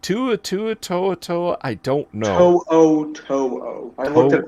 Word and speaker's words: To'o: To'o. I looked at the pronunciation guide yesterday. To'o.